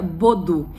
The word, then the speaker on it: Baudoux: né aqui ó escreve se escreve Baldo né mas a gente pronuncia bodo Inclusive eu fiz um